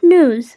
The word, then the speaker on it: news: Even in here, the stress is on the first syllable, that is noo. And then we just have to end it with a z sound. So it's pronounced as Noo-z.